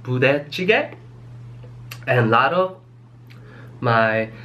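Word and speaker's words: 부대찌개: So this soup is pronounced budae-jjigae, and a lot of my non-Korean friends call it budae, budae-jjigae, budae soup.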